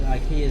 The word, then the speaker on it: IKEA: IKEA. Here you go, I was telling you about, it's got ProMods and there's IKEA there. Or IKEA, as it's pronounced.